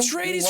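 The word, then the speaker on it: Atreides: nice day all right and how do I pronounce it again atres Tres atres Dune reference you know the movie oh trades from Dune okay now I'll remember it thank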